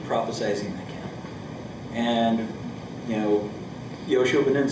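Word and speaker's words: יהושע: No, that's how they say it's Yoshua.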